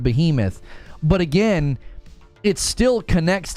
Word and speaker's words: Behemoth: it's going to be Beemo no it's Behemoth I don't think I've ever seen anybody pronounce it Beemo Sony could sell Bungie